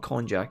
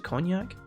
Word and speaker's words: cognac: con jack is homemade is a cognac is that how it's pronounced it's not con jack as it's a cognac the citrus bite of